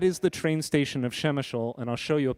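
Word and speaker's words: Przemyśl: this word here i love this p-r-z-e-m-y-s-l it's pronounced shemeshol many of you who've been watching the nightly news have seen images of a train station that is the train station of shemeshol and i'll show you a picture of it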